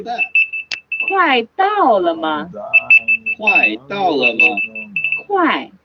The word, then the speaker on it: 快: 快, the fourth tone, which means be Hey, about the to do alarm's working something.